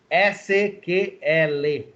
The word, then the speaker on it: SQL: a letra a letra no entanto em português a pronúncia mais correta é a letra a letra SQL a linguagem é um